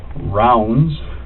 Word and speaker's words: Ravnsborg: r g okay but it's pronounced rounds like a round circle okay berg like an iceberg it's danish they even